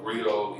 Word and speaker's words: griot: of the griot project rio is spelled g-r-i-o-t and we are an